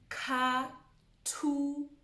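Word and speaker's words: Khathutshelo: So, Katuchero. Katuchero. So if you notice, there's that THU, that's two. Katuchero. And the TSH is ch. Katuchero.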